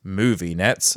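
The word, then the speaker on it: MoViNets: are excited to announce movie nets pronounce movie nets oh i get it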